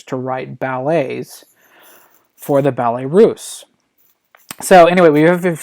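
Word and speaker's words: Ballets Russes: code word is ballet this is pronounced Ballet Russe and I've seen several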